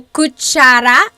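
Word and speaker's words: kutsara: very interesting because of that TS combination which makes that cha sound and then that letter K is what makes the C Sound yes Richard said looks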